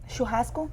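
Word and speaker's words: churrasco: Shuhasco. Shuasco.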